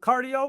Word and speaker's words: Card.io: I know I said cardio and it spell different with the whole card. do you still pronounce it cardio oh yeah it's pronounced just like the word okay no perfect perfect